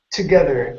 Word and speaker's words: together: our last one here is together give me a good th sound together together good now instead of saying